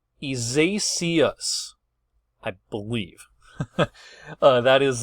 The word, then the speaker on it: Isaias: Isaias, I believe. That is the correct pronunciation.